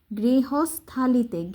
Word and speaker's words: গৃহস্থালিতে: গৃহস্থালিতে, গরিফলা গৃহ, গৃহ দন্তস গৃহস, তারপর এই যে হর উচ্চারণটা থ হবে, গৃহস্থা, থা লিতে, এইটুকু আলাদা উচ্চারণ করবে তাহলে সুবিধা হবে।